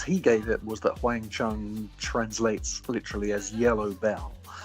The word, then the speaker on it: Wang Chung: a cool name, but why don't you just spell it like you say it, sort of Wang Chung.